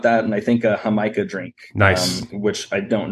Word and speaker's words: jamaica: and I think a hamica drink nice which I don't know exactly what fruit that is I know it's called Jamaica it's delicious yeah it spelled like Jamaica it's it's fantastic Orchard